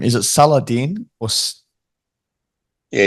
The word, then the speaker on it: Salahdin: Is it Salahdin or? Yeah, you said it perfect. That's the Salahdin, right way to pronounce it.